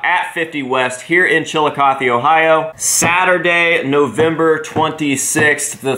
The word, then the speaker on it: Chillicothe: How do you pronounce my city's name? Chillicothe.